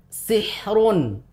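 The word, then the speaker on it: سحر: i begitu juga misalkan sihrun kita tidak membacanya dengan sihr tidak tidak tebal tapi tipis sihr sihr lebih tipis kalau Al Oh itu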